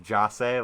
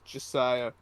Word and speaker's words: Jase: Is his full name like Jase, like in It's Josiah. Josiah? So it's not like Ja? Like It's spelled Jase, but pronounced Josiah.